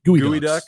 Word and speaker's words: geoduck: gooey geoducks or gooey gooey ducks. duck? Gooey Yeah. duck. It's spelled like geoduck. Yeah. Gooey duck.